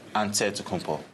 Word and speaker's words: Antetokounmpo: how you pronounce it you got to say with the d so it's a dead compo but in the greek way you say with the nc like antetokounmpo whatever you got just